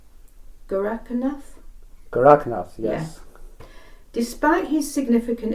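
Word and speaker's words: Gorakhnath: historic saints, and I apologise if I haven't pronounced the name correctly. I would like to ask about the wandering saint Guranath. Have I said that correctly? Gorakanath? Goraknath, yes.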